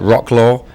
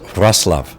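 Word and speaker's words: Wrocław: love somebody told me that it looks like rock law but it's pronounced russl um yeah I literally leave tomorrow fly to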